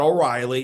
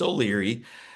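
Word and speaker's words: O'Leary: So, not only did he get my last name wrong, it's not O'Reilly, it's Olyri.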